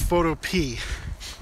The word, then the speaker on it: Photopea: we're gonna use photo i think it's actually pronounced photo p i'm not sure if